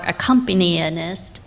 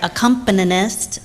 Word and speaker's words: accompanist: And just for a little funny story, I usually try to say our accompanyist today. Our accompanist.